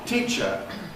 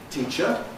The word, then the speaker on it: teacher: The e is pre-fortis clipped because it's got a following ch. Teacher. Teacher. Teacher. And it's got rhythmic clipping because of the unstressed syllable, the uh that follows teacher.